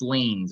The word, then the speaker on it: liens: that so to kind of um so tax liens or however you say that word l-i-e-n-s that's